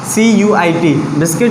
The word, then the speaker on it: biscuit: Silent, BISCUIT। बिस्किट में जो U आ रहा है वो यहाँ